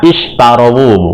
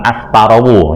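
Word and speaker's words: اشتروا: Ishtarawu, ya, bacanya ishtarawu, bukan astarawu, ya.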